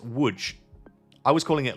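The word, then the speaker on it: Łódź: Um, which apparently, by the way, this is pronounced wood. I was calling it Lods for like a couple of months, but apparently this is wood.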